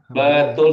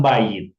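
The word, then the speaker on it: בית: Kita belum belajar ini, tapi saya harus singgung kenapa ini nanti kalian bertanya kenapa bunyinya bet bukan bayit ya karena dia adalah konstrak ya.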